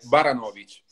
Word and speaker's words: Baranowicz: La pronuncia giusta è Baranovic.